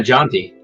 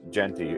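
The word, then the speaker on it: Jeanty: he's okay he's not he's not janty no of course not but they're not GNA it's Genty and they're not going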